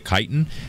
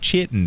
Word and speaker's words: chitin: I know a few of you said in the comments that it's not chitin, Z, it's chitin. That's one of those weird words that the CH is actually pronounced like, well, silly old English.